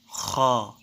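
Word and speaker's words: خ: খ মোটা হবে এবং 1 সেকেন্ড টেনে পড়তে হবে। খ খ খ।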